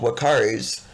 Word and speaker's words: uakari: eventually turn red and even though they are called wakaris their name is spelled u-a-k-a-r-i feel free to go